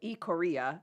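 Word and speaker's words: Ikaria: so um let's make way down to Iaria ioria Greece is how it's pronounced so they're living s years longer than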